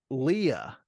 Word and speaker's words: Leia: talk about pronunciations um Princess Leia her name was pronounced Leah in in this movie um there's there's another